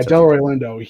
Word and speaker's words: Delroy Lindo: the first time i i would have yeah delroy lindo yeah he was not for the golden gloves